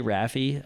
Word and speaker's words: Rafi: It's Rafi, not Rafi. It's I pronounce it Rafi. I've heard it every different way. I've never really corrected anyone. I don't think there's any right or wrong way. I say Rafi.